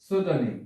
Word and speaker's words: pseudonym: আমি আবার বলছি, pseudonym, pseudonym শব্দের অর্থ হচ্ছে ছদ্মনাম। pseudonym ছদ্মনাম। রাসবেরি, এখানে পির উচ্চারণ হয়নি।